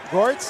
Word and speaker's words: Gertz: Getting caught with that right and losing his balance is Goetz. Gertz? Is that Gertz, Chris Gertz. Rhymes with Hertz.